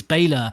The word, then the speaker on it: Bela: um they just said the pronunciation i think it's romanian um is why i